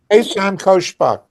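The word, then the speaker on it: Ehsan Khoshbakht: Conversations with, how do you pronounce his name? Isan, is it? Ehsan Koshbak.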